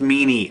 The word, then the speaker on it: Minnie: It's spelled Minnie, but it's pronounced Meanie, okay?